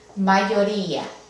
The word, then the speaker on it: mayoría: En este caso, no queremos mayoría, queremos ia, queremos separar la I de la A. Entonces, vamos a necesitar un diptongo para poder hacer eso. Mayoría. Al separarlo en sílabas es mayoría. Y al separar estas dos vocales requiere el uso de la tilde para que no formen un diptongo.